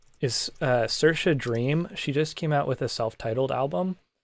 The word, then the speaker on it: Saoirse Dream: My favorite recently, let me just pop her name in the chat really quick, just so I spell it right. Is Saoirse Dream.